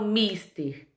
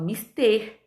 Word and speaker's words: mister: Eu não falo mister, eu falo mister.